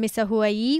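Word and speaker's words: Misahuallí: Bigger city, it's half an hour away from Misa Hawaii, which is spelled M-I-S-A-H-U-A-L-L-I.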